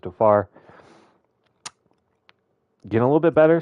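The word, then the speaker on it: Tovar: we picked up mid-season Ezekiel to toar I think it's actually pronounced to far getting a little bit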